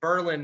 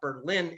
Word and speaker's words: Berlin: in the state called berlin and yes we pronounce it berlin not berlin in new hampshire and if the price is